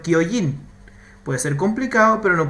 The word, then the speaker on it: Kyojin: ¿Dónde está tu equivocación, siendo que tiene una K delante esa última palabra? Shingeki no Kyojin.